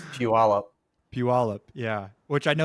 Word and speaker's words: Puyallup: It's Puyallup.